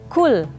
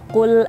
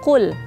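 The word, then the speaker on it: قُلْ: Tapi kalau orang Indonesia misalnya bacanya itu kul. Nah, itu kan kaf tuh, kul. Itu kan kalau dalam bahasa Arab kul itu berarti makanlah.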